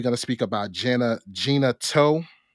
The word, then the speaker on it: Gena Tew: to speak about jenna gina toe am i pronouncing her her name right gina toe yeah gina 2 okay and